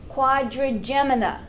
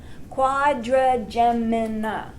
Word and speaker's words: quadrigemina: the corpora no-cook corpora quadrigemina quadrigemina oh yeah what a word you know how long it took me to learn how to pronounce that yeah quadrigemina quad ridge and gem uh no I'm a